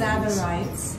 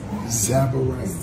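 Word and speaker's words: tsavorite: Zabarites. Zabarites. Zabarites. Yeah, you spell it T-S. T-S-A-V-O-R-I.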